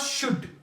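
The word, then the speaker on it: should: जैसे हमारे पास शुड जब भी किसी भी लफ्ज से पहले ए या यू आ जाए तो वहां पे एल क्या रहते हैं silent L will रिमन silent the letter L कैन नॉट be pronounced we can write but वी कैन not pronounce it जैसे शुड शुड यूं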